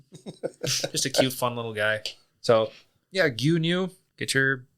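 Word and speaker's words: 牛乳: And milk is gu. Guy is spelled gu yu n yu.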